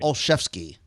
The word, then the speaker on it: Olszewski: It's Robert Olszewski.